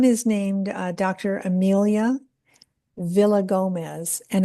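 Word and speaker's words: Villagomez: Amelia Villa Gomez, and it's spelled just the way it sounds, V I L L A G O M E Z.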